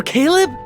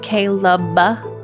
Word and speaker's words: Caleb: Sir, you said his name wrong. It's Caleb. The uh at the end is important.